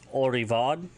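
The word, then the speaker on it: ori'vod: So, older brother slash sister, it's Orivad, ORI, Betten, VOD, Orivad.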